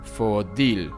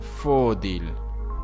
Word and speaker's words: Fòdil: It seems like almost all the time the last syllable of a word is stressed, so it's pronounced Fòdil and not Fòdil.